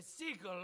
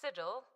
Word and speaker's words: sigil: Those days back when my bear was more than just a sickle on my shield. It's pronounced sigil.